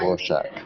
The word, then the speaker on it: Rorschach: Rorschach.